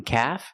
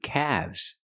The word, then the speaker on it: calf: wolves wolves w one calf and two calves remember with calf the L is silent if it's singular one calf and two caves again the L is silent in calves and calves can be